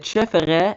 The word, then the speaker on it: CFR: But yeah, chef and it's not CFR, it's chef how we pronounce it.